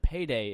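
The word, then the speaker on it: peidei: I just want everyone to also know that payday is Portuguese for I farted. Oh. Just a little fun fact there. P-E-I-D-E-I, so it's spelled differently.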